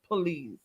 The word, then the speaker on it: Pullease: And I did look it up. That's the way his name is pronounced. Pullease.